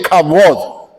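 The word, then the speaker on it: כבוד: en hebreos se traduce comúnmente como pronunciación en cabot pronuncia en cabot en el contexto hebreo cabot no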